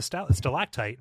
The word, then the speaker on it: stalactite: And there's a G because it's on the ground, and it's a stalactite because it's from growing from the ceiling.